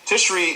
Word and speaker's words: Tishri: Now, you also speak about something in your book called the month of Tishri. Am I correct in pronouncing that? What is it? Tishri is here's the thing.